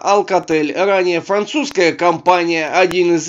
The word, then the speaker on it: Alcatel: Произносится Alcatel, ранее французская компания, один из лидеров мирового рынка телекоммуникационного оборудования.